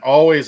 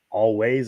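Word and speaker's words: Alvvays: It's AL where there should be a W. It's VV. VV. It's it's pronounced always, I guess, but Is it Always?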